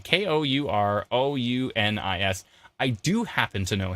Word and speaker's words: Kourounis: How do you pronounce his last name? Kourounis.